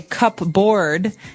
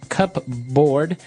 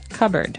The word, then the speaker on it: cupboard: So, you might want to say cupboard because it's cup c u p b o a r d.